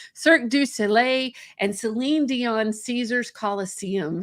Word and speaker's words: Cirque du Soleil: in entertainment lighting managing multi-million dollar projects including cirque du sol oh i said it wrong cirque du soleil and celine dion caesar's coliseum how cool is